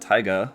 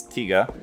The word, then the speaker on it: Tiga: we've got Evil tiga I won't call it Tyga again because in the last video like 90% of the comments for people correcting me on my pronunciation for that so sorry it's tiga we've got the new